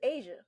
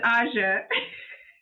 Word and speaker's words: Aja: stop you right there so do you pronounce your name AA or you pronounce it Asia it's AA I didn't want to